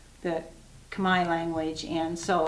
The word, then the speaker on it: Khmer: their their language is called the they actually pronounce it kamai the kamai language and so it's basically cambodian crafts and